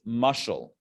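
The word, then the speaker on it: משל: So the Hebrew word for parable is mushal. Mushal. Mushal. Okay, if you want to spell it in Hebrew, 3 letters, mem, shin, lamed.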